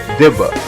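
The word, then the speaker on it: דִּבָּה: In the Hebrew language, the particular word within the context of specific scriptures that I speak of is pronounced dibba, which means to defame or to whisper an evil report or unfavorable saying.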